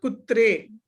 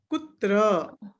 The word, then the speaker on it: कुत्र: I am writing it here, please pronounce it correctly. Not kutre, kutra. Kutra.